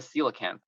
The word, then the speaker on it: coelacanth: Have you heard of a coelacanth? Coelacanth. I will hear about it right now. How do you spell that?